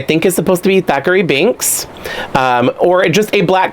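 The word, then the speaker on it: Thackery: So, and also, who else thought that his name was Zachary? And then Winifred was just mispronouncing it, saying Thackeray, like, you know, what hast thou done with my son Thackeray? And she's like, Thackeray, And I thought she just had a lisp or something, and she was trying to say Zachary.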